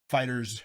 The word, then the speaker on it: FighterZ: Fighters. It is Fighter Z, but it's pronounced Fighters.